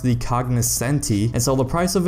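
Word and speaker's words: Cognoscenti: and I might have mispronounced it earlier it's pronounced the cognis Senti and so the price of it is just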